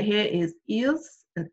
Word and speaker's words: ils: Okay, and then the last one right here is ils and elles. We don't pronounce the S, so it would still be il, elle.